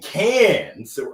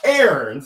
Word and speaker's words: Cairns: Global Speaker Summit in Cairns. Rob, I hope I pronounced that right. It's not Cairns. They'll take off our hands if we say it like that. But in Cairns, Australia, the Great Barrier Reef.